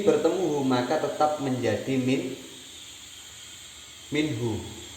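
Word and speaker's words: منه: Min bertemu hu maka tetap menjadi minhu. Dia tidak berubah menjadi minhi. Ini malah salah. Kalau dibaca minhi salah.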